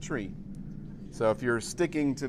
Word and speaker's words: trie: the name of this from the middle characters of the word retrieval so he wanted it to be pronounced tree so if you're sticking